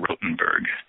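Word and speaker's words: Rothenburg: called The Torture Museum I think it's in rotenberg so if you're in Germany you're listening in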